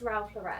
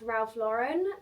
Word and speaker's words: Ralph Lauren: See, I've always pronounced this Ralph Lauren. I recently learned it is in fact Ralph Lauren, but I feel like it's so hard to get out of the habit of saying Ralph Lauren since I'm so used to saying that.